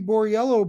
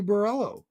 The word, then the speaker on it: Borriello: But Italian names, I I remember in the very beginning when he kept calling Bobby Borriello Bobby Borello.